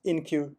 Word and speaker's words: enqueue: queue and DQ so the pronunciation is in queue in British English okay we're going to